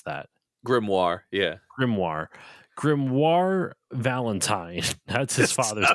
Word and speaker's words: Grimoire: in grimoire on Grim grimo how do you pronounce that grimoire yeah grimoire grimoire Valentine that's his father's name good it's